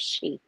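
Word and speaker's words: sidhe: called the she it's it's spelled s-i-d-h-e but it's pronounced she yeah okay so that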